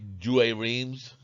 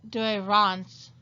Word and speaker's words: Douay-Rheims: modern english i say dreams yes the douay-rheims it would actually be pronounced do iran's because dreams is actually from france to rhyme with france of course the new